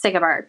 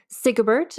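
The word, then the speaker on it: Sigebert: do you say it I say it's sigbert but here's the thing so for you and for all listeners even in their lifetimes there are varying pronunciations of the same name so like if you're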